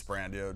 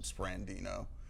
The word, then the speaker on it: Sprandio: People always add an N to my name. Like, it's Sprandio, just like it's spelled, but there's always an extra N, like 90% of the time, Sprandino.